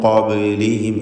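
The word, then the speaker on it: قبلهم: ശേഷം ഖാഫിൻ്റെ അക്ഷരമാണ് എന്നതുകൊണ്ട്, ഖാഫാണ് ഇസ്തിഅലാൻ്റെ അക്ഷരമാണ് എന്നതുകൊണ്ട് മിൻ ഖബ്ലിഹിം എന്ന് പറയുക. ബായിൻ്റെ സുക്കൂൻ ഖൽഖല സുഗ്റ നൽകി ശബ്ദം ചലിപ്പിച്ച് ഹറക്കത്ത് പോലെ വ്യക്തമാക്കണം. ഖബ് എന്ന് പറയുക.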